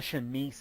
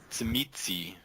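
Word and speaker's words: Tzimisce: I've seen it pronounced Shanice a couple times. That's how a lot of people that I play with pronounce it. So I just kind of picked up on calling it that.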